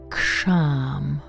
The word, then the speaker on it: KSHAM: It's called KSHAM. Let me spell it out for you.